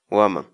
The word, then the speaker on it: waman: de vídeos en la que te enseñamos a pronunciar algunas palabras en quechua así que nuestra palabra del día por hoy es huamán o ama guamá la palabra quechua o am